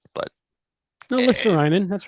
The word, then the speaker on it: Luostarinen: I'm sure I got his last name wrong, but no, Luostarinen.